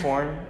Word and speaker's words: Horne: Horne. Horne. How do you say that? Horn. Then I said it right.